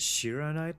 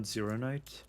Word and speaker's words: shironite: It's shironite, not zeronite.